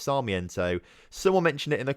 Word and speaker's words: Sarmiento: I keep saying Saramento. It's not Saramento. It's nothing like Saramento. It's Sarmiento.